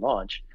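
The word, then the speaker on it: Lawnch: launch which is called is spelled like lawn w i mean l-a-w-n with a c-h at the end launch and it's kind of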